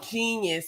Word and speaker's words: JEEN-YUHS: So there's a documentary about Kanye West, and it's called JEEN-YUHS. It's not spelled the way that genius is normally spelled.